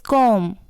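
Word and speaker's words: comb: इट्स कॉम। इसे कॉम्ब नहीं बोलते, कॉम बोलते हैं, यानी कि जो बी है वो साइलेंट है।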